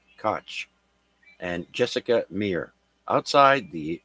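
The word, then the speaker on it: Koch: spacewalk by NASA astronauts Christina cot sorry cootch k c h cootch and Jessica Mir outside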